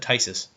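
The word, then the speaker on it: Phthisis: By the way, this is how you pronounce that. You do pronounce that Tysis. That PHT, just call it a PHTH is basically just AT sound.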